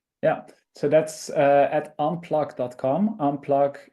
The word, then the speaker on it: Unpluq: Unplug is spelled with a Q in the end. So it's like unplug, but then instead of the G, it's a Q.